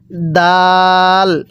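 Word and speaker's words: دال: এরপরে এই হরফটির নাম হলো দাল। স্মরণ রাখবেন, এই দালটা আমরা একটু শক্তভাবে উচ্চারণ করব, যেমন আমরা এই জিমটা শক্তভাবে উচ্চারণ করছিলাম।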